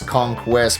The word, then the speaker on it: Kong Quest: It's not It's not Diddy Kong's Quest. It's Diddy's conquest, but like conquest. Conquest. It was a play on words conquest.